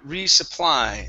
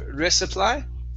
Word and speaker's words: resupply: right let's go to the word resupply instead of risk supply it's resupply to play good so you're